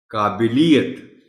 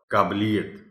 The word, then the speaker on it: قابلیت: حجام ہے، قصاب ہے۔ قابلیت، اب اس میں بھی جو خاص نقطہ ہے وہ بے کے نیچے زیر ہے۔ میں خود اس کو غلط پڑھتا ہوں، قابلیت پڑھ دیتا ہوں، قابلیت۔